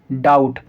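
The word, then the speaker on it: doubt: डाउट।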